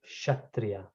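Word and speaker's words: Kshatriya: actually it is actually this k is silent so we call shatriya but starts from k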